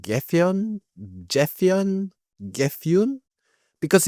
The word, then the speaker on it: Gefion: Gefyun? Because if they're following the Norse mythology, Gethion is going to be Gefyun.